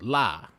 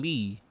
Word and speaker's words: Ly: His name is La, and it's L-Y, but I've been calling him Lee ever since the first day I met him, and he ain't never corrected me to this day.